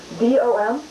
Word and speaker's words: Dom: D-O-M? Pronounced Dom?